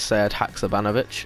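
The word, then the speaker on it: Sead Hakšabanović: It is Sead Haksabanovic from Montenegro.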